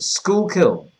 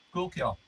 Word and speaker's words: Schuylkill: How do you pronounce it? Schuylkill. Schuylkill. So like school, but without the double O in it. Essentially.